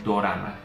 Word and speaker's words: dorama: que encontramos es que la palabra dorama es la pronunciación o la transliteración de la palabra drama en este caso que